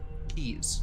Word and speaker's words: quays: rather than walked along the quays keys that's pronounced key blowing out from every